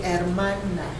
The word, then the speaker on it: hermana: And your sister will be hermana.